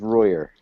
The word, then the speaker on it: Royer: Royer, or is it Royer? Though it is does have French roots, it is Royer.